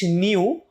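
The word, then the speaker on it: nu: নিউ, তুমি উচ্চারণটা একটু দেখো, এটাকে নিউ বলা হয়।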